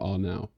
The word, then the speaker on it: Arnau: Like, you've got to roll the R for Arnau.